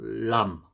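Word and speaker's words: لام: 그래서 혀에 힘을 주고 윗니 잇몸에 이렇게 닿으면서 나는 소리입니다. 람, 람. 혀에 힘을 주고 람. 아까 라하고는 좀 다르죠. 라는 이렇게 굴리면서 내는 소리고, 람은 혀에 힘을 줘서 람, 람 이런 식으로 내는 소리입니다.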